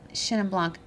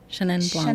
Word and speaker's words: Chenin Blanc: How do I pronounce it? Chenin Blanc. Chenin Blanc.